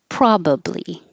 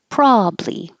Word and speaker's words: probably: This word you can say two ways. You can say with three syllables, probably, probably, or two syllables, probably.